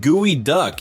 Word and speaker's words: geoduck: The geoduck, pronounced gooey duck, is a massive clam with a super questionable shape.